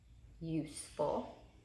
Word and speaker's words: useful: Okay, so we have that syllable break after use, useful, useful. This is going to be a U consonant E syllable pattern. So we're going to say U, big C for consonant E, U consonant E, and useful. We hear that long U in the first syllable.